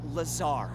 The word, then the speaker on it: Lazar: Rangers, this is Laser Blazer, a researcher in our R&D department, and its sales liaison. It's Lazar, actually. Accent on the czar.